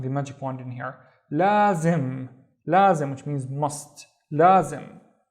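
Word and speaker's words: لازم: The first syllable is basically la, long because of the alif. La, and then the second syllable is zim. Zim, we have the magic wand in here. Lazim.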